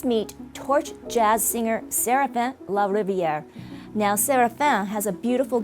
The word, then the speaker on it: LaRiviere: Did I pronounce it right, Serafin? Yep, LaRiviere, that's just perfect.